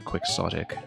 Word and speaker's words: Quixotic: Both of those are valid, to be honest. Like, if you look at... you know, more authoritative English dictionaries, you'll find both. Like both the Don Quixote pronunciation as well as just quixotic, which is what people more commonly say in English. I'm fine with both.